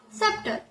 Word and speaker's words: subtle: When we talk about B, then B is silent when it is after B is silent when it is after M and when it is before T.